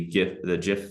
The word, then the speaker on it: GIF: Like I mentioned, we have the GIF feature. That's the proper pronunciation, by the way. It's GIF, not GIF.